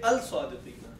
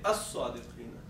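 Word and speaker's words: الصادقين: But when we say as-sadiqina, we don't say al-sadiqina. We say as-sadiqina.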